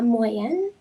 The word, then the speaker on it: moyenne: La moyenne. La moyenne. Yes. Okay. So, be careful. Le moyen is the means, la moyenne is the average.